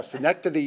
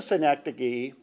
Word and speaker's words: synecdoche: Thank you, Jack, for teaching me how to pronounce that. City in New York. Yeah, synecdoche, New York.